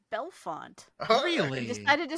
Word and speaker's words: Bellefonte: just gonna say Bellefonte Commish takes it it is belfont oh really I decided